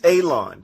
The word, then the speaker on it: Alon: Shalom, my name is Alon, pronounced like you're gonna cut grass, like you're gonna cut a lawn.